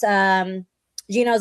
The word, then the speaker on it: Gino: Of course, Gino's offered it's how you say his name, Gino?